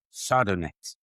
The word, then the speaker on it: sardonyx: And the stone to wear or carry over and above Shanghai is sardonyx.